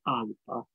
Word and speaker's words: Alba: nostra parola Alpi, anzi Alba, Scozia, si dovrebbe in realtà pronunciare in gaelico con una B molto simile a una P, quasi Alpa.